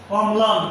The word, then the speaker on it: অম্লান: যেমন অম্লান একটি শব্দ, এই শব্দের যে ল ফলা, এই ল ফলাটা হচ্ছে ময়ের সঙ্গে, ময়ের উচ্চারণ দুইবার হবে এবং লয়ের উচ্চারণ বজায় থাকবে।